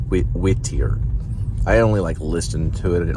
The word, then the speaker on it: Whittier: That's how they say it, not Whitaker, but Whittier.